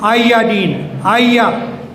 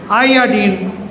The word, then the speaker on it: iodine: But this is again iodine. Iodine, not iodine.